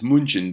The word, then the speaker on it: München: the city of Munich, or in German it's München, but in English we would say Munich.